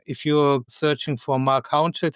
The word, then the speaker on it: Haunschild: If you're searching for Marc Haunschild, it's quite easy to find me. English people sometimes pronounce it Haunschild. This is not correct, but maybe it's easier to find me then.